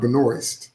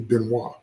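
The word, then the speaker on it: Benoist: And no, her name is not Benoy. That's how Americans say it. Her name, she's French. Her name is French. Is actually Benois.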